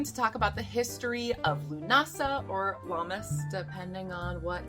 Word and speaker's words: Lughnasadh: Lunasa, some pronounce it Lughnasadh, Lammas, and the first fruit.